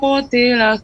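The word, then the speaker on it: قتل: Jadi setiap Ibu membaca huruf yang berharakat dhammah, menunjukkan bibir. Summa qutila. Kalau harakat kasrah pada asalnya turunkan rahang bawah. Qutila dengan secukupnya saja.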